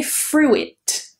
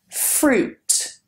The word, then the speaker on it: fruit: People, again, they get influenced by the spelling and they say fruit. Fruit. But forget that I. Just the long oo. Fruit.